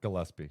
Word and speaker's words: Gillespie: it was Colin GPS's def," you know, Gillespie.